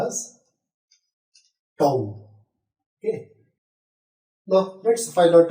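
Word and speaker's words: τ: is represented by letter tau yes it is pronounced as tone okay now let's find out the torque experienced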